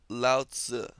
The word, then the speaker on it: Lao Tzu: up is the opposing force so this is pronounced Lao Tzu selasa means old baby he's the most famous